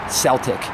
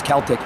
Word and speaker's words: Celtic: There's no such word as Celtic. It's Celtic, retards.